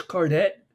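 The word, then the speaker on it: Xcaret: right and we went to this place called ishqadet yeah which it it's pronounced it's cardet but it's really weird how it's spelled it's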